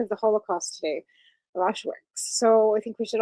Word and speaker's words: Auschwitz: But today is the 80th anniversary of Auschwitz.